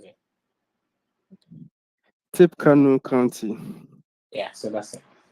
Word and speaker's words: Tippecanoe: How would you pronounce it? Tippecanoe County.